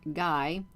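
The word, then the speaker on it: Gy: When you marry and you are the female VRIL, which they're called Guy, which is spelled G-Y, you no longer are allowed to wear your wings.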